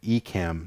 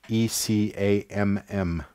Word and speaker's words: Ecamm: but Mac users have the chance to use something called Ecamm. So it's spelled E-C-A-M-M. Okay, Ecamm. E-C-A-M-M. E-C-A-M-M, yeah.